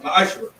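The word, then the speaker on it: מעשר: It means 10th in Hebrew, and it's pronounced ma'ashra.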